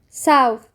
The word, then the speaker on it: south: جنوب بالانجلش يعني ساو ساو ساو التي اتش بتتنطق حرف ساوث طيب ازاي ننطق كلمه جنوبي جنوبي يعني سذرن